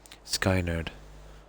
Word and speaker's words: Skynyrd: Oh, it's pronounced nerd. Skynerd.